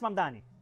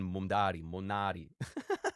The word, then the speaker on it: Mamdani: Fíjense, nadie sabe pronunciar mi apellido. Es Mamdani, pero Es Mamdani, pero a cada rato me dicen Monari.